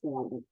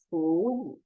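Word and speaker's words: 处理: rule in Fu, Li, because whenever there are 2 third tone words, the first one has to read as second tone. Chu, chu, chu li. Not chu, not chu li. It's chu li.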